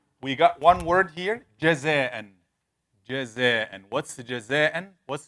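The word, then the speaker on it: جزاءً: Many people say jaza. Ja. Many qurra, reciters. It's not ja. The minute you have it flowing, it's ja.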